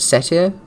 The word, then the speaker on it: satyr: Satyr, thank you.